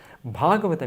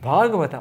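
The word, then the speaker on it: भागवत: Bhagavata, first long A in the first syllable of Bhagavata, means connected to Bhagavan.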